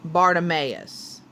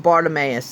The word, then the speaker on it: Bartimaeus: author, or not the author, the audio narrator pronounced it Bartimaeus.